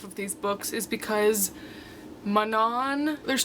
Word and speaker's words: Manon: It's not Manon, it's Manon.